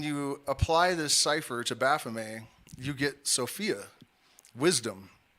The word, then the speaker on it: Baphomet: and I know a lot of people say baffet uh but the tea and fr at the end of a word is silent so it's Baff uh Baff the the depiction that we all